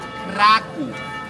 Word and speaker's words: Kraków: And in Polish pronunciation, Kraka is called Kraov.